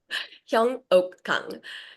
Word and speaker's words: Hyeungok: It's very difficult to pronounce. Yeah. Hyong Oak and um I'm originally from South Korea and